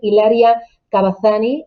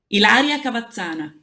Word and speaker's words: Ilaria Cavazzana: Me acompaña también Hilaria Cavazzani. Hilaria, ¿qué tal? Muy buenas tardes. Hola, muy buenas tardes, Susana. Es Buenas tardes a Cavazzani, todos y ¿no? gracias. ¿Cómo lo pronuncias? Ilaria Cavazzana.